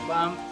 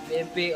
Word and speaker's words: BMP: It can be pronounced as BAM, BMP, or simply a bitmap image.